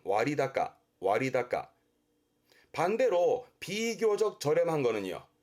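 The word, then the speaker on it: 割高: 발음은 와리다까, 와리다까.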